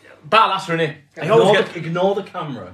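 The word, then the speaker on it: Barlaser: Barlasser. Yeah. Off air. He said it right every single time. Right. Barlasser, innit?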